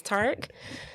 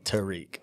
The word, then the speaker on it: Tariq: just said his name is tark so you you could have told me i was pronouncing your wrong but listen